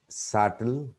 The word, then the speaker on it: subtle: The third one, B is silent in some words before the grapheme or letter T. Here are some examples: debt, data, doubt, doubtful, subtle, subtly. Number 3, C is silent after S and before E or I.